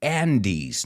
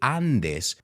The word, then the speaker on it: Andes: talking about length the Andes now you say Andes we say Andes like my friend Andy Vaughn the Andy stretch 7